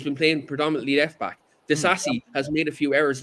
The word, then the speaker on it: Disasi: Disasi, was that how you pronounce him? He's been okay. Disasi, yeah.